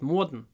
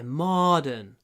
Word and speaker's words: modern: Иногда даже моя жена говорит modern. Не, modern. Мо. Открывайте рот. Мо. Modern. Modern. И потом вот второй слог можно произносить с открытым ртом, в принципе. Modern. Просто кончик языка поднимается. Modern. Modern. Modern. Modern. Видите, я не закрываю рот.